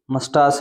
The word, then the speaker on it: moustache: इसका नाम है किंग बिग मस्टास। राजा बड़ी मूछे राजा बड़ी मूछ। मस्टास इसकी स्पेलिंग थोड़ी चेक कर लेना। इसका जो उच्चारण है वो क्या अभी? मस्टास है।